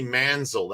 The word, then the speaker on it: Manziel: And it's Johnny Manziel. That's how you pronounce it. So I said it wrong. Manziel or Manziel.